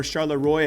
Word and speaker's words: Charleroi: If you guys watched Charleroi, or Charleroi as us Americans pronounce it, last week, this is now Sprout's back-to-back grand final appearances, so congrats to that roster.